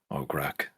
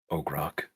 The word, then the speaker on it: Ograk: hear a voice call out and say, "Good luck, Ograk." I pronounced it wrong. Ograk.